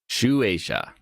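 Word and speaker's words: Shueisha: Uh uh Shunishia published the 27th, how was that pronounced? Shu Asia.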